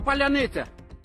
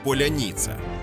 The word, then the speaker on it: паляниця: визначають своїх і чужих через фонетичні особливості окупантам вкрай важко вимовити це слово адже у російській звук це завжди твердий тому у загарбників виходить щось подібне до поляніца Утім складності у росіян